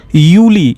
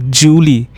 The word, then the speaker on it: Juli: Similarly, it is Yuli. It is not Julie.